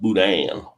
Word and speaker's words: boudin: Boudin pronounced Boudin.